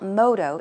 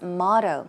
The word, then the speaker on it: motto: you want to say try saying motto okay it's not Moto it's motto so basically a motto